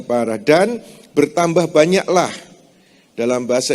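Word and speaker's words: פרה: P, res, he, parah. Membacanya parah.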